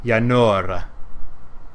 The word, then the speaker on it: Yanora: How do you pronounce that? Yanora. Yanora. Her name is Yanora.